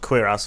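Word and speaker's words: cuirass: heavy uh quas yes it sounds like quer ass I know I actually Googled it before this and it's apparently pronounced quir ass or something like that quass so we're going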